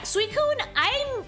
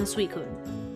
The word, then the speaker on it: Suicune: How do I pronounce this? Suicune? Yeah, Suicune, I was very surprised when I found out that this was not an ice type.